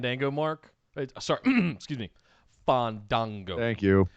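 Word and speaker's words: Fandango: a huge fan tango mark sorry excuse me fun dango thank you pronounce it right um just seeing him murder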